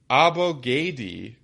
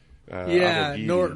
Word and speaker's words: Abogidi: But Abogadi, that is not how you pronounce. Abogidi. Nor is there any. Are there any vowels in there that would make you think that that's how you should pronounce it?